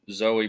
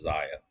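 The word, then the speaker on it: Xia: a shout out to Zoe Brookside just because I said I would um or Zia however the hell that name is pronounced is x i a I think it's Zia Brookside I don't want to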